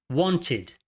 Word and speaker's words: wanted: Esse E não é pronunciado como um E.